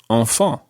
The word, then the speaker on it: enfants: And the plural of this, the word for children, sounds exactly the same, although it's got a silent S on the end. So you would say enfant.